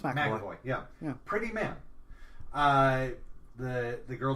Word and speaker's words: McAvoy: I'm getting the name wrong. No, it's McAvoy.